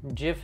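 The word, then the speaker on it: GIF: go - jiff jiff jiff is the right way to pronounce a jiff by the way I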